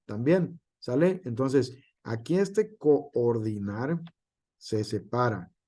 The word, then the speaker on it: coordinar: una vocal abierta aquí como lo es coordinar que nos pudiera sonar que es cor una sola sílaba en realidad se separan con ordinar sale como coordinación también sale Entonces aquí este coordinar se separa y nosotros